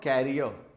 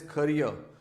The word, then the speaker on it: career: is pronounced as ker it is not carrier it is career carrier is another word